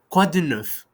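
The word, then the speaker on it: quoi de neuf: It's common these days, and but the pronunciation in French and the way it is written, it's a little bit, let's say, weird. "Quah-du-nuff," which if you translate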